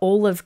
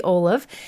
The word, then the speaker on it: Olove: Yeah, that's how it's supposed to be. It's, I think the story is the owner's daughter pronounced olive that way, or no, Olaf from Frozen. So anyways, it is supposed to be olive, and I'm applying that